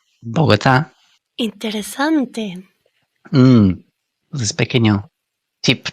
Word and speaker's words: Bogotá: Y es algo muy típico de los anglófonos esto, como Barcelona, Bogatá con una un consente muy fuerte en vez de Barcelona, Bogotá.